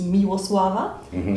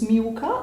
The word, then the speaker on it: Miłosława: pronunciate my name properly so official version is miava short version is MAA or M or me sant but it fits perfectly